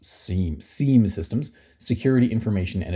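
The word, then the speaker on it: SIEM: these systems are commonly referred to as Sim systems or as they should probably probably be pronounced seam seam systems security information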